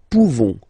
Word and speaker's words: pouvons: Nous pouvons. Nous pouvons. Okay? You don't pronounce the final S.